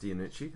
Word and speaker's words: Iannucci: I mean, it's Arnaldo, I think his name's pronounced Iannucci. I could be wrong on that. I think that's right.